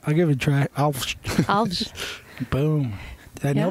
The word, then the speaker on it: Alves: We actually say Alves. Oh, really? But because no one can say it, I always say Alves. I'll try. I'll give it a try. Alves.